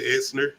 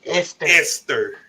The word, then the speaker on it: Esther: we are reintroduced to essner as far as a prequel esther yeah what i'm saying yesterday you putting the n in there there's no e esther esther yes yes esther you're saying it right and when i'm wrong